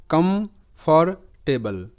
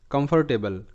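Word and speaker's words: comfortable: তোমরা শিখবে যেমন শব্দটা এটার উচ্চারণ যদি আমি ভেঙ্গে ভেঙ্গে করি তাহলে হবে come for টেবল কমফর্টেবল কমফর্টেবল কমফর্টেবল তো এখানে লাস্ট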